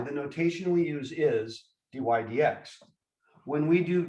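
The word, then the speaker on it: dy/dx: d dx, first of all, of y, we write as this, and we say it dy dx. That's how we actually pronounce that statement.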